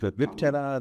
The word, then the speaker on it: Viptela: No, I don't know if I pronounce this right, but Viptela, or is it Viptela? That's right.